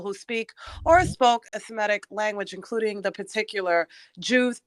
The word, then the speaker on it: Semitic: who speak one of the somatic language I'm probably saying it wrong Semitic yes thank you a family of languages